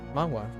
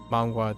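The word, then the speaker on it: manhwa: else oh oh mangwa yeah mangwa m m a n h w a that's how I pronounce it I don't know how other people pronounce it but yes yep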